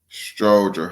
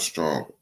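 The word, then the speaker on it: Stroger: to Stronger Hospital unfortunately no matter he say stronger it's sters stroer Hospital not stronger but yeah if you're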